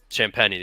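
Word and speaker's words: Champagnie: mean I don't think sh shampagne I think that's how you say it I always forget champeny champeny yes that's it or Harrison Barnes I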